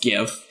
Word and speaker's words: GIF: I had to make a gif yeah it's pronounced give ya it stands for graphic yeah so so